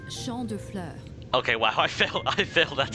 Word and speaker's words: Champ de Fleurs: Champs de Flores? How do you say that? Champs de fleurs. It's Champ de Fleurs.